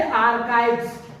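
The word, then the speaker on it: archives: इसको देखिए आर्काइव्स, इसको पढ़ते हैं आर्काइव्स। देखिए इसको हम क पढ़ रहे हैं आर्काइव्स, तो ये भी एक यूनानी वर्ड है।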